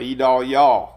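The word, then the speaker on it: Idalia: The National Hurricane Center name pronunciation chart. E-Dal-Yaw. E-Dal-Yaw.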